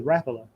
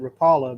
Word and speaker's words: Rapala: a floating it's actually rapala. Everybody calls it rapala, but it's actually rapala. It is. It's a Swedish company. It's pronounced rapala.